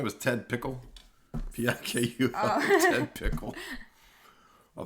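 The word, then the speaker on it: Ted Pikul: His name is Ted Pickle. What? Didn't he say his name was Ted Pickle?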